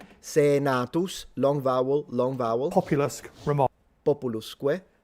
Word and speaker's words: populusque: Populusque, all short vowels, because if you say populus with a short vowel, it's people. If you say populus, it's the poplar tree, but this is supposed to be pronounced Romanus.